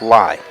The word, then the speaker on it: Lai: And I double checked with the people from Timberlake, and they said Cameron's last name is correct pronunciation is Lai.